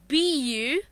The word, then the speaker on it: buffet: Yeah, exactly, buffet. But it's not correct. Yeah. It's actually buffet. And there is another alternative pronunciation for this word. Right. So, can you tell me that? Buffet. Buffet, okay? So, one buffet is the standard and professional one. But there is another alternative pronunciation, buffet, which we say, okay, normally.